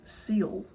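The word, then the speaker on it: Seale: my maiden name was Seal s e a l e it's pronounced seal like the animal and my first name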